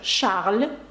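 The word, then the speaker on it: Charles: Ось так Шарль Азнавур ви вже бачите тут багато правил звук ш Шарль ви бачите щос пишеться але не вимовляється і ви бачите на вуг Р наприкінці яке вимовляється це та приголосна яка вимовляється таке слово як шансон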